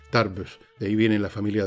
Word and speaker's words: Tarbes: Se escribe T-A-R, B larga E-S, Tarbus.